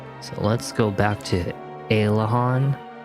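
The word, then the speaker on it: Aliahan: So, let's go back to Aylehon. I know some people are like, "It's pronounced Ayleiahorn." But, I like to say Aylehon.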